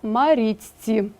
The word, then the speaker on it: Марічці: перед свистячими стають свистячими наприклад слово Марічці пишемо а вимовляємо маріцьці так подвоєний ц п'яте правило